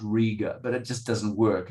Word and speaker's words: Riga: There was a young woman okay, I know it's pronounced Riga, but it just doesn't work if you pronounce it Riga.